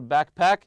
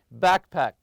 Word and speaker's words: backpack: trash bags and your backpack for dirty laundry so we have here trash bag trash bag you put the stress on the first part also backpack backpack always stress the first part keep your sunglasses and